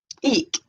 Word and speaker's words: Ik: Eek, pronunciation E-E-K, eek, spout I-K.